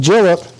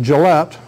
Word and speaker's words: Gillett: And I call it Gillett. Today we'd pronounce it Gillette. But 150 or 200 years ago, they didn't have accents on syllables. So that's the way they would have pronounced it, was Gillett.